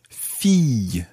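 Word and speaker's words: fille: tricky word to say listen carefully Fe and you can decide to to do a sort of y at the end or just leave it as Fe Fe or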